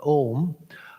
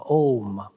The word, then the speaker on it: om: is m om but in sanskrit o the letter o the vowel o is made up of the sounds conceptually not that you pronounce them separately as a u but om is considered to be made up of these two sounds and om its symbolism uh includes all three sounds the ah the u and the ma